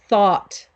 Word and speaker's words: thought: yeah she thought and that's one word that has so many letters in it so many letters and we really don't pronounce all of the letters barely at all so she thought good